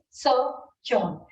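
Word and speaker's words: sojourn: so what again is Sir John it is so if for pronunciation it is s or h j u r n the spelling of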